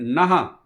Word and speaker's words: नः: लेकिन नह का उच्चारण अधिकांश लोग नहीं सही से कर पाते हैं। धियो यो न प्रचोदयात, अगर आपने धियो यो न प्रचोदयात कर दिया, नह न बोल करके, विसर्ग न लगा करके, न पे केवल न